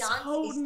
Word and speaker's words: Houghton: It's Houghton, and I know it.